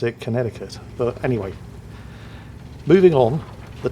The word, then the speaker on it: Connecticut: state but I believe you don't pronounce the second C and they actually pronounce it Connecticut but anyway moving on